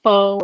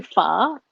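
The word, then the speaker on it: phở: of people call it faux or oh um like pronounce it like f-a-u-x but it's actually pha and you pronounce it with a question at the end and it's a beef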